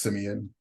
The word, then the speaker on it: Simeon: while we're on the topic, my name is pronounced Simeon. And so Simeon.